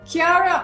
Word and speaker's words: Kara: I'll be there tomorrow we can do it Kara on the right is that right am I pronouncing your name right yes K perfect so